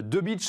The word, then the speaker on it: Debic: L'invité de Smart Impact, donc c'est. Je vais prononcer votre nom beaucoup plus précisément, le directeur de Léo Lagrange Animation.